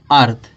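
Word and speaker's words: earth: अब देखो ई के उच्चारण क्या, यहाँ ई ए दिया है ना, तो ई ए का उच्चारण क्या निकल गया, छोटा आ निकल गया। और रा आर है, आर का उच्चारण रा निकल गया। टी एच उच्चारण क्या निकलेगा, था निकल गया। तो क्या पढ़ देंगे इसको, अर्थ पढ़ेंगे।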